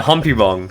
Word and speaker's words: Humpybong: But yeah, Humpy Bong. Humpy Bong. 3 syllables.